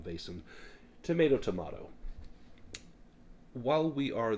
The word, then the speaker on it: Vaesen: And I've heard it pronounced Vasen, Vasen, Vesen, Vasen. I'm just going to call them Vaesen.